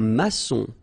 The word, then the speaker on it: maçon: Un maçon. Here you can see that we've got this little cédille beneath the C, okay? And it just means that you will pronounce this C as S, okay?